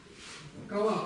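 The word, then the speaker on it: ཀ་བ: Она произносится как кава. А написано что? Как мы читали вот этот слог? Должно быть кава.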